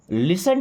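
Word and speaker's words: listen: Do ever लिसन टू मी? Do ever मी्स कभी तो लिसन टू मी लिसन मी सुनो देखिए टी साइलेंट है ना लिसन सुनो टू मी मेरी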